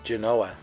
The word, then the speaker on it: Genoa: Genoa and Genoa but for the record the preferred pronunciation is Genoa and here's another restored